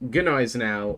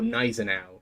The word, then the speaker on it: Gneisenau: I always thought German being relatively similar to English, you would pronounce the G, but like softly. So it would just be Gneisenau.